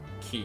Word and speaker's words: quay: I usually like to say quay just because I know, one, it annoys people, and two, that's phonetically correct in how it's spelled. K works as well, but most people say key.